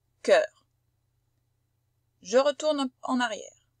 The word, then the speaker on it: cœur: Voilà notre O E bouclé U qui se prononce E. On dit pas œuf, on dit pas sœur, on dit pas cœur, on dit cœur, sœur, œuf. C'est un E ouvert.